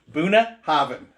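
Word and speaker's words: Bunnahabhain: some buna hobbin buna the bh is pronounced v so buna buna haven haven in gaelic that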